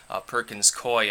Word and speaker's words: Perkins Coie: Lopez, who now works for a different company, Perkins Coie, I believe it's pronounced, was emailing several people from the DNC,